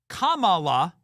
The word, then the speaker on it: Kamala: was Cala is racist saying her name's Kamala Kamala is the correct way to pronounce her name you know they tried to